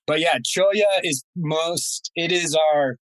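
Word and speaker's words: cholla: that's spelled c-h-o-l-l-a so it has a uh spanish pronunciation of the of the double l but yeah cholia is most it is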